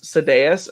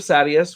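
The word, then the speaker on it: Sadeas: at the end and she says sedais instead of sadius which is what ryan had said um there was some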